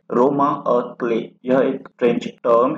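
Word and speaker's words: roman à clef: इसका प्रोनाउंसिएशन रोमा अ क्ले है, ना कि रोमन अ क्लेफ।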